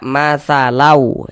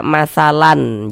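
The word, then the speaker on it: مثلا: Kita baca matsalau. Jangan dibaca matsalan. Jangan. Tapi dibaca matsalau.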